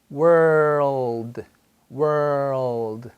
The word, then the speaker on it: world: Word, word, world, world.